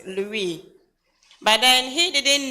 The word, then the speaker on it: Louis: is Louise or Louie French Louie they they they don't pronounce the last letter Louie but then he didn't